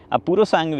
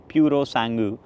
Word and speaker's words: Purosangue: That is Ferrari Purosangue, Purosangue It is pronounced in many ways Purosangue, Many people pronounce it like this It's an Italian word which means pure blood or thoroughbred There are multiple things